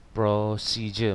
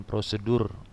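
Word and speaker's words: procedure: hortatory exposition yang Hai prosije bacanya hati-hati bukan prosedur tapi atau prosedur Bukan gitu ya prosesi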